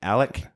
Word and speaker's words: Alec: Alec With a Ricketts, C. A hard C. hard C, Alec Ricketts.